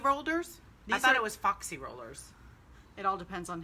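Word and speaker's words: Fauxy: I thought it was foxy rollers. It all depends on how you pronounce.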